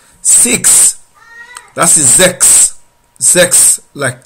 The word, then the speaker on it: sechs: Sechs, like in sex. Sex. Don't forget that in German, S is pronounced like Z. So instead of sex, it will be sex, sex.